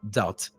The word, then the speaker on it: doubt: that or or this I used to say d but D but one uh one of my friends corrected me and said that it's it's actually doubt the be is silent that's that's a part